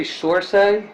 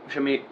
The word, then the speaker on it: Saoirse: How do you say Sorsay? Saoirse Ronan? Ronan? Is it? Uh, How do you say it? Is it Her first name. Sorsay? Because she's Irish. she's. I've heard her pronounce it before. Shami.